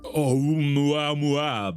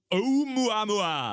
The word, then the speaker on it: Oumuamua: This event would predate the discovery of Oumuamua by about 3 years. Oh, I'm sorry. What? You know, Oumuamua. I'm going to try and spell that for my own Googling purposes. Okay. Oumuamua. Oumuamua.